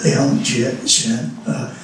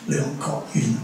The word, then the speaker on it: Leung Kok Yuen: So sometimes if you read the current literature, you would read Liang Jie Xian, which is the Mandarin pronunciation of the same name, Leong Kok Yuen, which is in Cantonese.